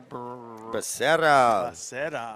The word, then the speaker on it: Becerra: That's Becerra. Roll those R's, man.